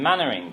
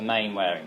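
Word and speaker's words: Manwaring: And a good example of this is the Smith and Mannering case. Okay? So main wearing there, you pronounce that Mannering. Like in Dad's Army, if you're familiar with that.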